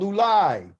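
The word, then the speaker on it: אולי: Because he thought perhaps maybe Yahweh would change his mind, which is the word called ulai, okay? Ulai. I want everybody to say it right now. Say it, ulai.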